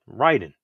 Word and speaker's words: Raiden: i in it so it's Ry you know I so Ry Ryden but it's funny to